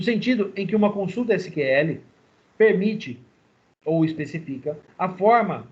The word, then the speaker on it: SQL: a letra a letra no entanto em português a pronúncia mais correta é a letra a letra SQL a linguagem é um